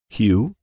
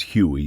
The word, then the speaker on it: Hugh: Hugh. Mara corrects behind me. The 14-year-old no longer wants the E sound at the end of his name.